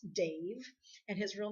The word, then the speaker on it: Damh: Dave the Bard, believe it or not, for those of you that are not familiar with Dave the Bard, it's D-A-M-H, the Bard, but it's pronounced Dave, and his real name happens to be Dave, which is kind of funny.